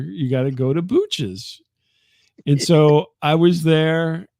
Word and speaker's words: Booch's: Columbia is at a place called Booch's, which kind of rhymes with cooches.